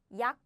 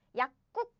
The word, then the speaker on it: 약국: However, we don't pronounce this way because if you pronounce it quickly, naturally you will pronounce like this. 약. No. Oh no, I deleted all the letters. It's okay. 약국, nah. No. This becomes 국 simply because this and this bumped, smashed, crashed. So the pronunciation becomes like 약국, 약국.